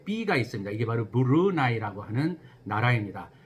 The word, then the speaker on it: Brunei: 영어로는 BRUNEI라고 쓰잖아요. 예. 근데 이게 스펠링은 이거지만 발음을 조심하셔야 돼요. 읽는 거는 제가 지금 하듯이 브루나이입니다. 그래서 이런 브루나이를 발음을 하실 적에는 브루네이라고 발음을 하시면 안 되고요. 브루나이라고 하는 것을 정확히 알고 말씀을 해주시면 좋을 것 같아요.